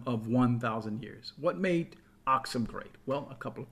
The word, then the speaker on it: Aksum: you probably never heard of it it's called oxom a KS n sometimes it's spelled ax M it existed in what is